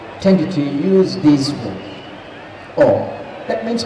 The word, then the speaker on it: Om: to use this word, Om. That means Om is composed of three phonemic units, triplets, I would say.